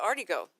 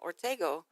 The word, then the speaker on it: Ortega: but we called it arty go we said already go all growing up we pronounce it arty go and tell my brother-in-law came roses why are you calling Ortega arty go and my fat foot